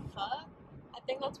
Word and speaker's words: pho: think it's not, like, P-H-O, you don't pronounce it like pho, it's, like, pho, or something, it's not how Americans say it, because that Americans want to make everything easier instead of learning the correct way to say the word.